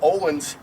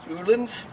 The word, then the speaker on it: Öhlins: do we're going to install a set of olens and the real pronunciation pronunciation is anolin but most people in America aren't comfortable with